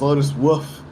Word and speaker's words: Lotus Wolf: So I think you pronounced it wrong. It's Lotus Wolf.